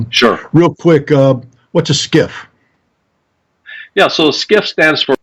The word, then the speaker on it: SCIF: Real quick, what's a SCIF? Yeah, so SCIF stands for Sensitive Compartmented Information Facility, spelled SCIF, but pronounced like SKIFF.